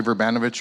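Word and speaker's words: Vrbanovic: Let's begin with the Mayor, Barry Werbinowicz. I got the pronunciation right, finally. All right. Well, thank you very much. So I'm Barry Verbanovich, Mayor of the City of Kitchener in Canada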